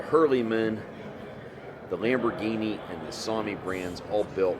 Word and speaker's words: SAME: Some of the other brands, such as Lamborghini or Sami, which is spelled S-A-M-E, same, you have seen in the USA in years past, but like I said, right now, strictly just Deutz Fahr.